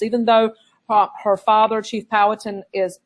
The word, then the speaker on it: Powhatan: Sometimes you'll hear it pronounced Powhatan, but I pronounce it Chief Powhatan.